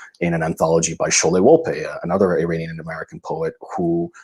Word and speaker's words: Wolpe: Interesting, because my father's Wolpe. Yes, that's right. With an accent on the E.